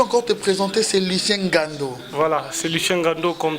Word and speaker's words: Ngando: Tu peux encore te présenter, c'est Lucien Gando. Voilà, c'est Lucien Gando comme d'habitude. Je viens prononcer alors.